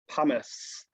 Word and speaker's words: pumice: it's really light um it starts with a p and it rhymes with uh the word hummus um it is called pumice tahuata that's right so